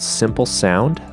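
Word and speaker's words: Symplesound: got a site called simple sound that simple spelt with a Y sound so sy MP le sou and decom so simple sound is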